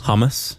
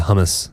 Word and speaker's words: hummus: Hummus? Yeah, hummus. That's what Americans say, but it's hummus.